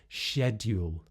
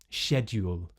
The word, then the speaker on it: schedule: So schedule, schedule, instead of schedule. Graduate, graduate. So again, that d sound is more old-fashioned, more standard RP, but still used. And j is a bit more common, and maybe you'll just blend in a bit more if you do it this way.